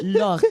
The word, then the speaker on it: Laure: So every time I had to say her name, she would say, you must say Laure. It's Laure.